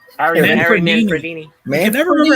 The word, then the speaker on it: Manfredini: I will say this: Henry Manfredi's music is just fucking. Who? awesome. Henry Manfredi or Freedy or whatever his fucking name is. Harry How do you say it? Manfredini. Harry Man- Harry Manfredini.